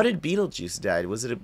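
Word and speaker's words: Betelgeuse: it's a e yeah it's a different spelling but it's pronounced Beetle Juice and so is his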